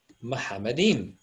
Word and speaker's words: Muhammadim: And look here, we have Muhammadim, just like I pronounced it, because you see the letter Mim, Het, Mim, Dalet. That's exactly how you would pronounce it in Arabic, okay?